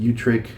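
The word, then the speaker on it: Utrecht: Old Catholic Church of uh I think it's pronounced Utrich, Utric and Scranton uh would augur that even um Orthodox Anglicans um conservative Anglicans would agree with that.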